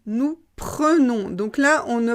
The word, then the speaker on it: prenons: prend elle prend on prend ensuite ça change nous prenons nous prenons donc là on ne prononce pas en on prononce eux nous prenons vous prenez et là ça change encore ils